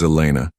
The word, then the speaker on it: Elena: "My name is Elena. I'll be taking care of you this evening." Elena. He tested the name, noting the slight emphasis she placed on the second syllable.